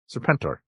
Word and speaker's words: Serpentor: it was serpent like it feels like the emphasis is too far on the wrong syllable in that one it's a pentor yeah